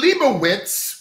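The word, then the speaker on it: Lejbowicz: is the liverwitz bloodline allow me to pronounce that capital l e j b o w i c z the Leibowitz with the J silent bloodline out first out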